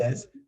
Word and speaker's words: Vasquez: be talking to JC Vasquez. I said it right, Pretty correct? close. Pretty close. Vasquez. The U is silent.